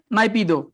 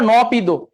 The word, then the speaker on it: নাইপিদো: রাজধানী মিয়ানমারের রাজধানী হচ্ছে নাইপিদো। নাইপিদো, নাইপিদো। অনেকে বলে নপিদো, ইংরেজিতে কি বলে এনপিদো বা নপিদো, আর এমনি উচ্চারণ করলে কি হয় নাইপিদো।